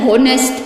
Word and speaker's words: honest: Nou sê ek vir jou, yes, dit is so, maar because these words, honest, honor, our, and hair, starts with a H, we pronounce them so that we hear the vowel sound.